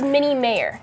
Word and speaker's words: Mini Mayor: So yes, it it is it is mini mayor. Mayor. Yes. Like like the mayor of the city.